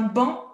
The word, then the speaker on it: banc: Donc, premier petit texte, un couple sur un banc jaune. On ne prononce pas le C.